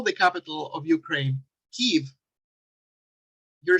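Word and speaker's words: Kyiv: the capital of ukraine kiev you're saying that you side with the ukrainians if you call that that capital kiev breaking the diphthong and separating it into an eye and an e tf then you're pronouncing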